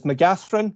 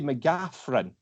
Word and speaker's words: McCaghren: read it, I say Mccaghren. With a PH. With the PH sound in the middle, yeah. Even though it's a GH, I just tend to go with the Mccaghren.